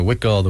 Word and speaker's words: Huichol: audience that maybe you know first of all it's spelled hu I CH o L all right everybody's a wit gold we call those oh yeah so the Huichol